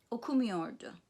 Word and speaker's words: okumuyordu: So the negative, in the negative sentence, the main stress is on the syllable preceding the negative me. Gitmiyordum, okumuyordu, okay?